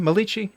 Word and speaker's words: Melikechi: and dean nordine melichi am i am i pronouncing the last name malici last name yes okay um so you are